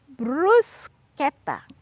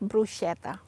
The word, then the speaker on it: bruschetta: they have not been familiar with italian language bruschetta not bruschetta bruce the bread you know with the tomatoes